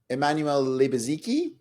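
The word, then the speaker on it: Emmanuel Lubezki: Uh, I'm going to ask you to help pronounce the cinematographers's name. Uh, Emanuel, that'll be Emanuel Libaziki.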